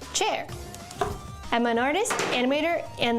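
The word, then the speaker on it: Qier: Hi, I'm Chair, spelled Q-I-E-R, pronounced Chair.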